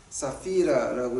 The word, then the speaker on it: 삽비라: 삽비라라고 한국말로 번역되는데 사피라라고 이제 그 발음을 하죠.